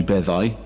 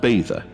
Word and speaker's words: Beddau: If the Welsh grammar is to be followed, then it would be Beddau, but the residents swear that it's pronounced Beidda, so I'll call it that for the purposes of the story.